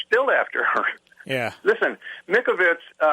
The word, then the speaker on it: Mikovits: Listen, Mikovits, it's spelled M-I-K, V as in Victor, or M-I-K-O-V-I-T-S, V-I-T-S, Mikovits.